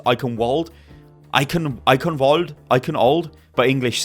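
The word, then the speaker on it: Eichenwalde: be taking place inside icon VA or icon wal I believe as it's actually pronounced I'm sure Germans out there will correct me but I'm sure it's icon Wald ion ional ional but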